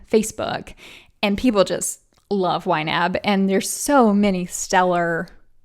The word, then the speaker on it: YNAB: its acronym are the letters ynab that is pronounced ynab so if you hear me say ynab it's the budgeting software you need a budget